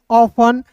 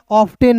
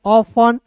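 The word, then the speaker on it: often: जैसे दोस्तों यहां देखिए ओ एफ टी इ एन ऑफन ऑब्टेन नहीं ऑफन।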